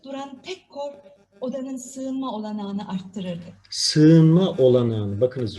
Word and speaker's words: olanağını: arttırdık sığınma olanağın bakacağız ğ harfi var dikkat edelim sığınma derken Ğ harfini düşünüyoruz Bir önceki sesli harfi bir ses uzatıyoruz sığınma olanağını olanağını demiyoruz yeni yumuşak G harfi var düşürdük Bir önceki sesli harfi bir ses uzattık olanağını dinleyelim tek korku